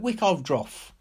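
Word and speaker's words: Wickaeldroth: "We the fisher folk at Wickovdroff." She gave the name the old Saxon pronunciation.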